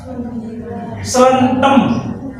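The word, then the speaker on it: slenthem: Selentem. Nah, pengucapannya ya selentem gitu. Karena memang istilah lokal, ya harus diucapkan secara orisinil. Selentem, bukan selentem ya.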